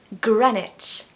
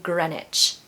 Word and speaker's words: Greenwich: sorry number nine is Greenwich Greenwich Greenwich so with this word we need to take away one of the E's and we need to take away the W so that it should